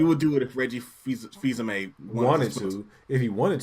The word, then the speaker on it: Fils-Aimé: It's actually Fils-Aimé, right? It's actually Fils-Aimé. Okay. Thank fucking God, because I was just gonna pronounce it wrong if I hadn't said feels anime.